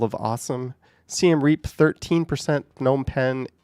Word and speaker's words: Phnom Penh: I actually have videos on this channel from around Phnom Penh or Phnom Penh. Some people say you don't pronounce that first P, but you will hear it pronounced.